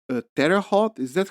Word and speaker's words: Terre Haute: like um a federal penitentiary at like a Terre Haute is that how you pronounce it yeah yeah in Indiana yes so